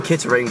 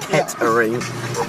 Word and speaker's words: Kettering: I kept saying Kittering, but apparently it's pronounced Kettering.